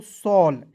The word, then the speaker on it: shawl: उसी प्रकार देखिए लॉ, RAW रॉ, SHAWL क्या पढ़ेंगे दोस्तों, सॉल। देखिए कैसे, तो SHAW है तो SH से देखिए क्या पढ़ते हैं, SH का लिखते हैं सॉ। उसके बाद देखिए AW है तो उसको उच्चारण अ के रूप में करेंगे, और एल का लिखते हैं लॉ, सॉल, ठीक है ना, समझ गए।